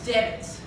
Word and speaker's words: debit: Debit. Debt. The B here is not silent, but it's written and said debit.